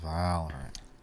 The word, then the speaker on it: Valorant: I said it wrong. It's Valorant. Valorant.